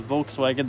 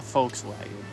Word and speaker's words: Volkswagen: to start calling the Volkswagen the Volkswagen. Okay. The Volkswagen. You realize when you say it though, in German, the V is pronounced like an F.